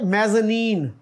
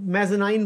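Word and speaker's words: mezzanine: आगे क्या है जीय मेजनी इसको लोग मे जनाइन बोलते हैं हमारे अक्सर ना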